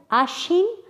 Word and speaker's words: আশ্বিন: এগুলোর সব ক্ষেত্রেই বফলার ব উচ্চারিত হয়নি, কিন্তু তার আগের ব্যঞ্জনটি দ্বিত্ব উচ্চারণ হয়েছে।